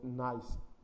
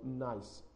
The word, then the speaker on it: gneiss: another rock, which called gneiss. Yes, I pronounce it well, like nice, like nice to meet you. So gneiss. This gneiss is a metamorphic rock.